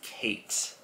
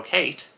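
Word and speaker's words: Khaite: It is Kate. I think that's how it's pronounced.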